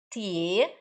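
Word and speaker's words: 铁: Tie é ferro, sólido, forte, firme, tem todos esses significados. Ditie é metrô, tá? Di é DI, D de dado I. Tie, T-I-E. T de tatu, I-E, tá?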